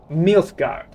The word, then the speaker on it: Nilfgaard: I've never mispronounced the name once. Nilfgaard.